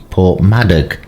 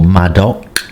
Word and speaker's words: Porthmadog: My name's Richard and I was passing through Portmadoc or Madoc, depending on how you pronounce it, but it is with a G on the end, and I got some